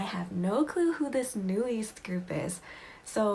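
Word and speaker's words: NU'EST: group called new east i want to pronounce it as new east that's how the koreans pronounce it so i'm gonna say new east and so i was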